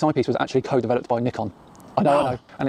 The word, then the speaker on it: Nikon: Yes, it's pronounced Nikon. Because it's a Japanese company, stupid. It's not Nikon.